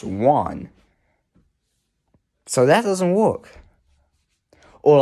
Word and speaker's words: Juan: that's precise point see that name is one but it's not pronounced how it looks it looks like ja and or something like that but it's pronounced one so that doesn't work